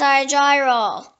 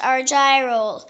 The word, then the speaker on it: Argyrol: The next word is argyrol. It can also be pronounced argyrol.